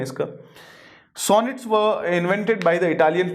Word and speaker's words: sonnet: इसके बाद में जो है सोनेट जो है, देखिए सोनेट pronounced sonnet is a 14 line poem with a fixed rhyme scheme.